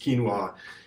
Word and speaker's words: quinoa: It's got kind of a crazy spelling, but it's pronounced quinoa.